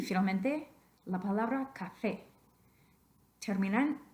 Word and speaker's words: café: vocales, pero dice que si la palabra termina en vocal, el estrés natural de la voz cae en la penúltima sílaba, which would make it café. Café, café. No queremos decir café, sino café, café.